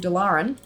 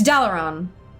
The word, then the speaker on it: Dalaran: Dalaran. It's Dalaran. But like, sometimes it's fun to say things the wrong way.